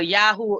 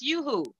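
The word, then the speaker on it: Yoo-hoo: consumed you who were yahoo you i think it's called yahoo right it's pronounced you who correct let us look like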